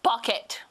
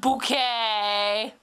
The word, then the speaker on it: Bucket: M Whittle B true some may call me bucket but it's pronounced bouquet stroken off Patty ha